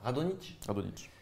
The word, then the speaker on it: Radonjić: On ne prononce pas le J. Non. Radonjić.